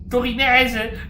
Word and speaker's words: torinese: Non ce n'è uno di Torino, torinese, con l'accento sulla E che tifa.